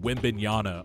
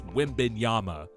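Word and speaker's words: Wembanyama: the Wim Yama thing man people kept saying Wim bana all year and I'm like guys we've had three years to pronounce this guy's name right it's Wim Yama but now Reggie Miller apparently thinks Chad homr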